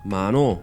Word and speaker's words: mano: the word hermano, Hermano. meaning brother becomes mano, Mano.